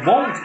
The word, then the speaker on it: won't: I won't do that, bukan I wanna do that, tapi I won't do that.